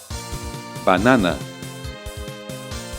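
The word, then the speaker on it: בננה: E um rei, apenas como terminação, sem função na pronúncia. Banana, banana, banana.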